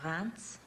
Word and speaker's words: Reims: we went to Chinon, and Reims, actually. It's spelled R-I-E-M-S, but it's pronounced Reims for some reason, like an N.